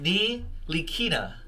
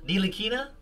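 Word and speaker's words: Ntilikina: A basketball reference, it says that the last name is pronounced Nilikina. Nilikina? All right, Nilikina then.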